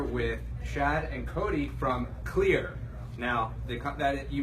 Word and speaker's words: Xlear: and we're here with shad and Cody from clear now the cut that you may know that company as X layer but let's debunk that right now the company is actually called clear the X is a silent sea right so